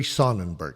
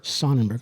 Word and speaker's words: Sonnenberg: dark and how do you how do you pronounce exactly your last name my name is Jerry sonenberg sonenberg okay yeah I uh uh I'm one of